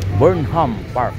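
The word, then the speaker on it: Burnham Park: Pupunta ako doon sa burn Park yun pala ang tamang pagka bigkas nito welcome burn ham Park dito ni guys yung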